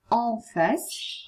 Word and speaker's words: en face: En face, en face, mi raccomando, si legge en, en face, di fronte.